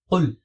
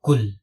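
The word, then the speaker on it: قُل: And this is qul, not kul.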